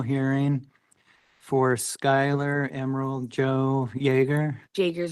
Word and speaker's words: Jaeger: This is the time set for an original hearing for SKYLAR Emerald Joe Jaeger. JAEGER's how you Jaeger?